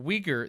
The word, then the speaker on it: Uyghur: So Uyghur, that's Uyghurs, the Uyghur people.